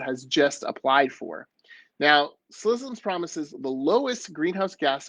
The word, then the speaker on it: Ksi Lisims: almost said that wrong, Slissims. It's spelled KSI space LISIMS. We pronounce it Slissims.